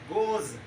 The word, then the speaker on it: goes: and we can pronounce at the end there should be a sound of z goes and if we talk